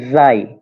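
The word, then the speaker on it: زاي: উচ্চারণ হচ্ছে যাই যাই এর উচ্চারণটা হচ্ছে যাই অনেকটা বাংলাদেশে উচ্চারণ সাধারণত করে যা এরকম তবে ঝা অনেকে বলে তবে এটা উচ্চারণ মূলত যাই আমাদের ক্লাস নাম্বার দুইটা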